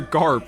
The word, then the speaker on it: Gaap: of you teleportation bro the pronunciation is identical to GARP from One Piece GARP seeing all free bunny